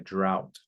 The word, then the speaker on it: drought: We're experiencing a drought. Pronounce like this. Drought.